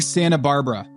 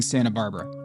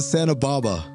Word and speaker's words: Santa Barbara: They're making fun of me with how I'm pronouncing Santa Barbara. Said it right this time. He said it right this time. The trap. Yeah. No. Earlier he called it Santa Baba.